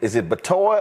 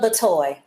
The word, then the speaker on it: Batoy: Is it Batoy or Bitoy? Just pronounce that for us. Batoy. Batoy. So the company is Batoy Sweet Treats.